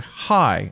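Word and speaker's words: חי: the movie wears a hi on his necklace. Hi is a Hebrew word meaning with a symbol that means life, and it's pronounced as if you were saying hi.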